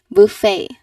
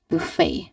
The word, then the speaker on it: buffet: it is pronounced as buffet. What have you noticed with how I pronounce the word? You've noticed that there is a silent t.